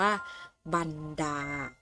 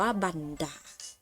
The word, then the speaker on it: บรรดา: คำ ต่อ ไป ค่ะ คำ นี้ อ่าน ว่า บรรดา บรรดา นะ คะ สะกด ว่า บอ ไม่ อากาศ หน่อ บัน อา ดา อ่าน ว่า บรรดา 5 เห็น ไหม คะ